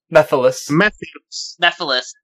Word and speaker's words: Mephiles: Oh, God, how do you pronounce the name? Mephiles.